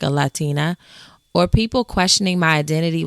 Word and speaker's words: Latina: I dreaded having to correct people when they heard my name was Latina, only to have them mispronounce it as Latrina.